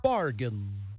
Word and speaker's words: bargain: Collect the letters of the word bargain in the proper order. The I is silent. Yeah, another one where the I is silent, just like in Recruit.